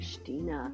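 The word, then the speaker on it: Xtina: And he said X-T-I-N-A. Oh, really? Stina. Stina.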